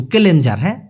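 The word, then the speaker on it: kelenjar: কেলেংকারি না কিন্তু কেলেঞ্জার। কেলে যার উচ্চারণটা দেখেন কেলেঞ্জার।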